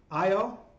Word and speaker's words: Io: bright because its massive IO I'm one that is spelled and pronounced the same way looks a little bit